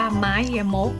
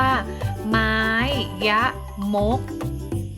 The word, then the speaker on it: ไม้ยมก: ไม้ ยมก นะ คะ อ่าน ว่า ไม้ ยมก นะ คะ เครื่อง หมาย นี้ นะ คะ อ่าน ว่า ไม้ ยมก นะ คะ อ่าน ออก เสียง ตาม คุณ ครู นะ คะ ไม้ ยมก นะ คะ อ่ะ หลัก